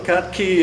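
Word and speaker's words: Cat Cay: Is that the same as Cat Key or pronounced Cat A? No, Cat Key is the island south of, Bimini chain.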